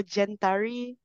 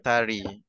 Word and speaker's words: Gentari: Aina: I think it’s Generation Bestari, so Gentari. Zahir: Gentari.